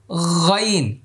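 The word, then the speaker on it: غ: এই হরফটি বলবো হুম গাইন এটি হলো তিন নম্বর মাখরাজ কয় নম্বর মাখরাজ তিন নম্বর মাখরাজ হলকের শেষ ভাগ মানে কণ্ঠনালের শেষ ভাগ এই হরফটি উচ্চারণে মোটা হবে হুম আবার মুখের দিকে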